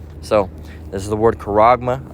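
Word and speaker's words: χάραγμα: it goes all right is how it's technically pronounced it's karagma all right what is this word Mark where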